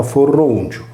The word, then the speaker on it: Foroneo: Equivalente greco di Foroneo era Festo, per cui Foroneo in origine ha scritto Foronio e pronunciato Forrongiu.